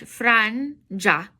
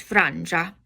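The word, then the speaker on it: frangia: fran, starting like fringe, franja, franja. Nearly sounds like fringe, so it's closer to the British way. This is franja. G-I-A sounds like ja, franja.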